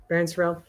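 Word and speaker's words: Barryn Sorrell: But his name is Baron Surell, I believe. I I think that's how you say his name, right? Yep. Baron Surell.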